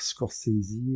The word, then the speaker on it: Scorsese: de parler de de Scores. Alors je vais pas dire Scorisie, il y en a qui le prononcent comme ça. Moi, je le dis à ma façon.